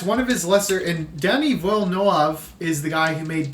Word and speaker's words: Denis Villeneuve: Denis Villeneuve. And I'm pronouncing that right. He's French-Canadian. It's not Dennis, it's Denis Villeneuve.